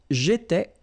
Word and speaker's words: j'étais: Remember, here we've got accent aigu, so it goes like et, all right?